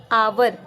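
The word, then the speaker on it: hour: क्योंकि यहाँ पे एच साइलेंट है और हमें साउंड किसकी आ रही है? आवर, आ की साउंड आ रही है, ठीक है।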